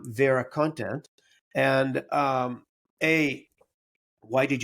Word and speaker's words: VeraContent: some slightly different pronunciations Americans like to say ver actually I was impressed with your correct pronunciation of our name so thanks for Vera content is how we say it um so why